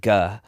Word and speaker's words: Ge: Why is your name pronounced Guh when it's clearly written Gee?